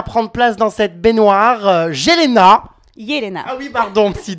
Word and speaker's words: Jelena: Nouvelle candidate des Marseillais à prendre place dans cette baignoire, Yelena. Yelena. Ah oui, pardon, si dès le début je me trompe sur la prononciation.